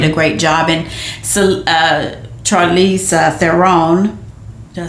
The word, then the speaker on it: Charlize Theron: And so Charlize Theron, did I say it right? Yes, absolutely. Charlize Theron, she did great as usual.